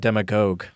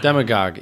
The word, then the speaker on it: demagogue: It's actually demagogue, not demagogue. You fell into my trap. Okay. Demagogue.